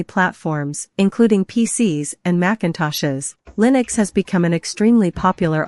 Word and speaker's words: Linux: operating system for workstations Linux Linux is pronouncedly new X and it is a